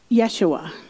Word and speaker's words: Yeshua: Yeshua. That's the Aramaic pronunciation of Jesus. That's the language that he spoke. That's the language that was spoken in that time.